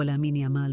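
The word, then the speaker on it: Lamine Yamal: وتقول بعض التقارير إن النطق الصحيح لاسم اللاعب الأمين جمال، باعتبار أن أصوله مغربية عربية، لكن المتعارف عليه هو لامين يامال بالنطق الإسباني.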